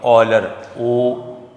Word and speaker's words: Euler: ये दोनों नाम की चीज़ें, लेकिन हमें नोटेशन बताई फंक्शन की, उसका नाम है, स्पेलिंग लिखने में यूँ है EULER, लेकिन पढ़ना इसको आपने ऑलर OLYER।